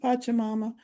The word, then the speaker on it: Pachamama: Look at me trying to make it all fancy and some foreign pronunciation. It's just Pachamama.